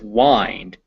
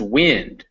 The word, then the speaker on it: wind: The first one is wind, as in to twist. The second one is wind, which blows through the air. Wind, wind. They're both spelled the same, but pronounced differently and have different meanings.